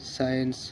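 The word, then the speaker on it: science: মানে সুগন্ধ এস সি আই ই এন সিই সাইন্স মানে বিজ্ঞান এখানে এখানে যেমন এস সি ই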